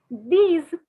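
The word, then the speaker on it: dix: nine is enough and finally 10 which is similar the spelling is similar to six instead of c's it is these so six is c's and ten is these these okay so always remember it is rhyming c is these sees these so i'll repeat okay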